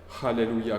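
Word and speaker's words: הללויה: son alors le héluia alléluia commence par un H et finit par un h alors vous dites alléluia mais pas alléluia que sinon on tombe par terre pour finir donc quand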